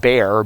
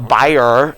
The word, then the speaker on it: Bayer: uh home to uh we would call it bear b-a-y-e-r like the aspirin so the buyer is how they pronounce in germany that company's there and